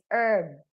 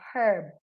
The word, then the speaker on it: herb: But the correct pronunciation of that word is herb, not herb.